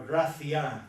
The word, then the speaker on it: Gratian: This is Gratian, or Gracian, to use the Spanish pronunciation.